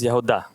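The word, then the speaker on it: יהודה: Now when you look at the word Judah in Hebrew, it is Yehuda.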